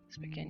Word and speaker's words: Spokane: Spokane, yeah.